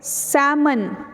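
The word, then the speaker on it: salmon: को पता होता है इसमें भी एंड साइलेंट है सैमन इट्स कॉल्ड सैमन लेकिन हम जो है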